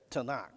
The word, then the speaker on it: Tanakh: the hebrew only has consonants okay so they pronounce that tanakh that's for and that's the complete collection of